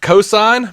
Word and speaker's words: Ko'Zeine: It's pronounced cosign.